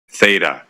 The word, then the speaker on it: theta: describing angles, the variable, she pronounced the angle variable name as O. I mean, for God's sake, anyone who does, you know, any angle stuff or trig, you see that circle with a line through it, you know, that's the Greek theta. Theta, who the hell pronounces O.